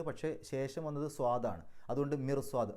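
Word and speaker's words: مرصاد: അതേസമയത്ത് മിർസ്വാദ് എന്നാണ് പറയാം, മിർസ്വാദ്. അവിടെ റാഇന് മിർസ്വാദ് എന്ന് പറയുമ്പോൾ റാഇന് സുക്കൂന്, തൊട്ട് മുമ്പത്തെ അക്ഷരത്തിന് കസ്റ്, പക്ഷേ ശേഷം വന്നത് സ്വാദാണ്. അതുകൊണ്ട് മിർസ്വാദ് റാ എന്നുള്ള ഉച്ചാരണം കൊടുക്കും.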